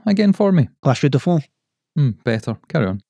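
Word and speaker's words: La Chaux-de-Fonds: So you have to say it with a bit of a French accent.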